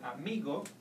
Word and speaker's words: amigo: example in the word amigo you no no longer stress in the end you will have to go to the second last syllable and pronounce me Amigo it's important to know